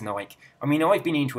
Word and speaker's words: Nike: We're supposed to say Porsche, we're supposed to say Nike, but we don't. We say Porsche, we say Nike. It's almost everybody in England says Porsche. Almost everyone in England says Nike.